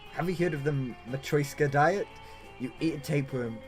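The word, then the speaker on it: матрёшка: So have you heard of the so yeah, Matryoshka.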